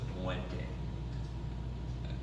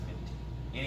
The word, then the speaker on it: Muente: And a lot of times it looks like Muente, but it's pronounced Minty.